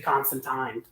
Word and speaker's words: Constantine: Constantine or Constantine as it supposed be properly pronounced but oh um yeah it's supposed to be constant time uh but people never do that so um